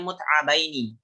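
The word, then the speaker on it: مُتْعَبَيْنِ: Ini cara bacanya mut'abaini. Kenapa mut'abaini? Karena ini hal, ya, dan sahibul hal jumlahnya 2 orang.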